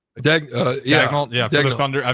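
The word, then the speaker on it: Daigneault: Is it Dagnall? Dagnall.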